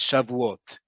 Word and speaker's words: Shavuot: generations have been however in modern hebrew the name is shavuot that is the name